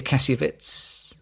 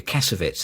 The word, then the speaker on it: Kassovitz: Mattia Kassiovitz. And, you know, I've been calling this guy Mattia Kassiovitz all my life, and it's actually Mattia Kassovitz, isn't it?